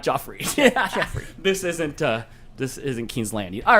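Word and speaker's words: Geoffrey: Two is pronounced Jeffrey. 3 is pronounced Joffrey.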